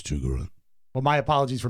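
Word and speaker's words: Chigurh: I'd like to present from the movie No Country for Old Men, Anton Chigore. Chugor. Chugor. He already screwed up a bit. Have you seen the movie? I have. Okay. It's Chugaru.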